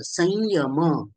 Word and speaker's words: संयम: वर्गीय आहे बरोबर त्यामुळे अनुस्वाराच्या पुढे जर य आणि श आला तर अनुस्वाराचं उच्चारण हे य सारखं केलं जातं संयम संचय याप्रमाणे संयम संयम